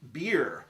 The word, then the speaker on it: Byrrh: It's spelled Byrrh, but it's pronounced Byrrh.